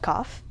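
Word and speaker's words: Qaf: into this new whole world called Kof. It's spelled Q-A-F, not the regular Kof.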